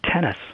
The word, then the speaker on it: Thoennes: And it's actually pronounced tennis.